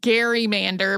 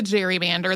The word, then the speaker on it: gerrymander: in the Senate as Gary Mander became part of the political lexicon its pronunciation gradually shifted to gerrymander the way that we say it today and it was included in Webster's Dictionary in 1864.